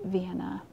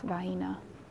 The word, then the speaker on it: Vienna: chicken Vienna sausages yes I know that's Vienna but around here it's pronounced Vienna I don't know why that's just the white people saying I am aware of